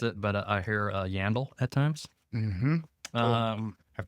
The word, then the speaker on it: Yandell: Yep, Yandell. Yeah, that's the way I pronounced it, but I hear Yandell at times.